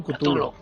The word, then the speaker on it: Cthulhu: ¿Cómo vamos a pronunciar Chulu? Porque yo digo Chulu, otros dicen Cthulhu.